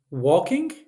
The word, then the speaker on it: walking: Danish English words go walking walking L here is silent in English remember okay L not